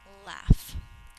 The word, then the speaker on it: laugh: or something is funny laugh one syllable think to spell and this is using the second sound of augh spell laugh out loud